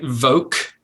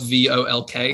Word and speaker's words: Volk: Like as in the word like evoke, but it's Charles like Henry Volk. I think he had like egg yolk because my name is spelled V-O-L-K. I can see it. So I think like egg yolk. Okay. But it's not. It's German, like Volk. Volk means people.